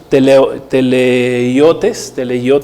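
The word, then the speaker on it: τελειότης: Recordemos que la palabra perfección viene del griego teleiotes, así se pronuncia, que significa madurez, alguien que llega a estar completo.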